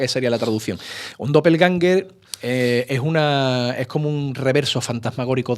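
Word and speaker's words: Doppelgänger: Tú en alemán sería algo así como Doppelganger, pero bueno, en español ya se acepta Doppelganger.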